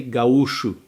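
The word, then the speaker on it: gaúcho: So all those people they are called gauchos but in Brazil we say gauu which is exactly the same spelling just the pronunciation is different back in the days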